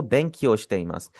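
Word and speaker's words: 勉強します: बीच वाला ई आपका साइलेंट हो जाएगा। निहंगो ओ बैंकियोश्तमास।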